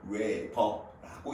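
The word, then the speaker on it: weber: 그 녀석을 우리는 보통 뭐라고 이야기하냐면 WB로 쓰고 읽을 때는 웨버라고 읽습니다.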